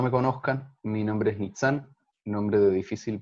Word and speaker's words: Nitsán: para quienes no me conozcan mi nombre es meet and nombre de difícil pronunciación para estos estas latitudes nits también se puede coordino resonancias prácticas narrativas acá